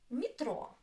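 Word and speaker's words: метро: Metro. Metro. Metro. Two syllables. Metro. O is stressed.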